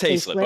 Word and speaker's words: Hlip: Hlip. It's Hlip. Okay. Hlip. I was like it's Hlip or Highlip.